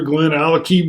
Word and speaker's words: GlenAllachie: scotch test dummies we got a 13 year glen alecky real hot casper you pronounced it right i'm excited and it's limited